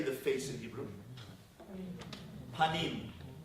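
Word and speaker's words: פָּנִים: Panim. Right? Panim. Do you know how you say the internal self in Hebrew? Pnim. Pnim means your insides. Panim means your outside, your face. Your face, panim, and your pnim are the same word.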